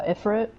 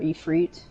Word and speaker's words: Ifrit: go up against uh ifrit or e freet depending on how you want to pronounce that but um i think i think multiple characters say ifra and e3 so it's like um there's no official pronunciation here but uh i